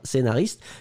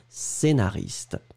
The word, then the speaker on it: scénariste: que nous cherchions scénariste vous l'écrivez SC le prononce pas e accent aigu Naris te scénaris scénariste ça n'est pas ce qu'est nariste c'est vraiment scénariste et la dernière chose